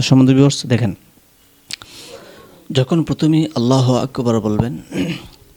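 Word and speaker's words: الله أكبر: এভাবে আল্লাহ আল্লাহ বললে হবে না বলতে হবে আল্লাহ ফু অনেকে বলে ফু যারা আরবি সম্পর্কে জ্ঞান নেই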